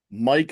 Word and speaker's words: Miike: Well, the band goes out of the way to emphasize that it is pronounced Mike or else I would be like, "Yeah, maybe that is how you pronounce it."